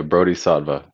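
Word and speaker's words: Brodhisattva: wrong bratislava uh yeah brody saadva um it's like bodhisattva but i'm a bro um my intentions for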